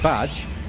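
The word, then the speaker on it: B'dg: Like this guy up here, who is, it's pronounced Badge.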